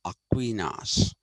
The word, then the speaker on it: Aquinas: him ainus he's not ainus he's he's actually Aquinas anyway I told you that he was only